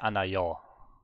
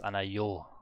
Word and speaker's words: 않아요: But I always say anayo. It's anayo.